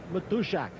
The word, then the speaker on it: Matuszak: Special pregame guest, my Polish friend, John Matuszak. That's how you want to pronounce it.